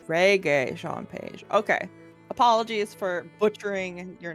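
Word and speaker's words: Regé-Jean Page: We are looking at how to pronounce Reggae Jean. It's Reggae Jean Page. Reggae Jean Page.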